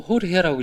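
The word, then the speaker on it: Jorge: 요르게가 이게 지금 호르헤, 그러니까 에스파냐어로 호르헤라고 읽거든요. 그러니까 지금 보르헤스를 그 모델로 삼은 거예요.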